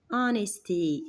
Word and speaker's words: honesty: honesty الاتش طبعا silent، بتكتب ولا تنطق.